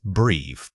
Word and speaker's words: breathe: This is a unique sound because it uses the voiced th which requires your tongue to lightly touch behind your top teeth. It feels different from saying a standards or z's. Keep that vibration going throughout the word.